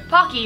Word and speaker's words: Paqui: Paqui, it rhymes with hockey, is an Aztec word meaning to be happy.